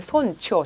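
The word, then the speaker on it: 尊重: 자, 그래서 손주가 아니라 이번에 손초, 초로 읽는 음이 나왔어요.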